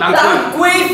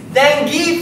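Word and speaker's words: dengue: uh Tang fever T tangu fever how do you even see it as tangu this is not Tang this is dangi fever how do you pronounce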